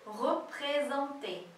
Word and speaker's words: représenté: Então, as nossas amigas mulheres, os amigos les femmes, são largement, né, amplamente, représentés. E atenção aí à pronúncia de représenté. Esse R-E aí no início é re. Représenté.